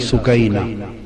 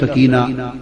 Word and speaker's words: سکینہ: لخت جگر شہزادی سیدہ سکینہ، اصل نام ان کا عربی وزن میں سکینہ ہے، عرف عام میں سکینہ چلتا ہے، مگر اصل لفظ سکینہ۔ سیدہ میں عرف عام